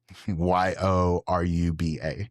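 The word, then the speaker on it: Yoruba: heritage the Euroba ethnic group the Euraba tribe spell that Euraba spell Y O R U B A.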